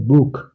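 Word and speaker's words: Buch: হয়েছে ইশ মানে আমি আবার আ ও উ এর পাশে থাকলে খ এর মত যেমন বুক বুক এসহা ভয়েলের পাশে আছে ও এর পাশে আছে এজন্য এটা হচ্ছে বুক মানে বই খর মত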